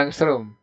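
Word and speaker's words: ångström: gelombang ngasih lamda lamda itu disitu 6600mah angklung bacanya angstrum misalnya ada derajat nah ingat satu angstrum itu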